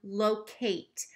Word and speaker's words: locate: Okay, number one, locate. I'm hearing that eight at the end, so it's not the schwa sound.